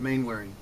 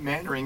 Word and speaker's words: Mainwaring: bane of my existence main wearing is the way it's spelled but mannering is the way it's said I respond best to